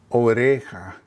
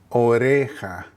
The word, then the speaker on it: oreja: Oreja. Oreja. Again, the J makes almost an H sound, and again, the R makes almost like a D sound. So again, listen. Singular is la oreja.